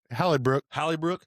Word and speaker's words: Hellebuyck: Connor Hellebuyck. Is that how you say his name? Yeah, Hellebuyck plays for the Winnipeg Jets.